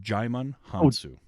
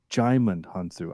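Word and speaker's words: Djimon Hounsou: wrong is it uh Jamon hansu we don't pronounce the d right or is it it's a giant it's jaiman hansu jaiman hansu I've never known how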